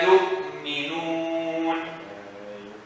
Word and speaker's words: يؤمنون: Warsh doesn't pronounce the Hamza. So he says yuminun. يؤمنون. Yeah, that's Warsh. No, us we don't say that. We read our Qur'an. Our Qur'an says yu'minu. But you make a Hamza sound, right?